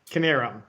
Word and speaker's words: Knierim: For them, the Kiernams, I pronounced the name correctly. Yeah. Knierim.